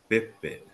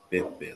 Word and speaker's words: pepe: The P's are not pronounced like a P, it's like a B, Pepe, like a middle B.